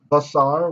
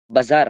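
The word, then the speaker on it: בשר: So the word, how do you say the word flesh normally? Bazar. That's right. Everybody got that? Baza. So Basar. pretonic qamets.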